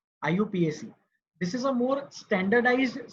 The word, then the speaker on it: IUPAC: It is pronounced as IUPAC. IUPAC. IUPAC.